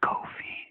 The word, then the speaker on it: Ko-fi: It's Ko-fi. It rhymes with no fee.